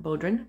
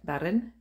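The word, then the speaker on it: bodhrán: new bedroom i discovered i was pronouncing the name of that drum incorrectly not bodrin but baron and the other two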